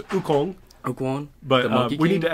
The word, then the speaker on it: Wukong: You probably can pronounce it better. Sun Wukong. Oh, I think it's Wukong.